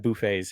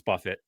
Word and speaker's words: Buffett: I I've just always pron for some reason always pronounced it as Buffet. Yeah. No, it's Buffett. Um, at least for him it is.